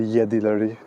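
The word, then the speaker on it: Jedileri: So it's called the Yedileri, which is spelled with a J here. The J is pronounced as a Y, and if you know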